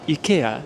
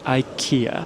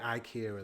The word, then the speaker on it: IKEA: of Stockholm in Japan we also pronounce it Ika just like the sweds I don't understand why Americans pronounce it I Ika it makes no sense we say Ikea as well in the